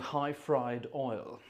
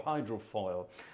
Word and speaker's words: Hyfrydol: It's the old high fried oil, as it were, or hydrofoil, or however you want to pronounce it. Hyfrydol, I suppose, is the way you should pronounce it.